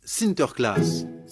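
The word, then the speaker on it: Sinterklaas: des cadeaux aux enfants aux pays bas saint nicolas se prononcent sinter klaas et lorsque les néerlandais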